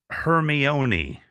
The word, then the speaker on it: Hermione: potter until i finally heard it it was hermione that was that was it hermione she was